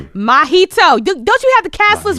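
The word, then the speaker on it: Mahito: It's like Mjito but with a a mjito. You drink mojitos, don't you?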